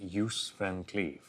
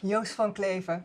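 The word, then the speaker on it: Joos van Cleve: I've been calling him Yuse Van Cleave in a very English way. How should I pronounce it? Yusfan Claver.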